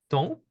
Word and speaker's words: tante: We have tante, okay? And the E again is not pronounced.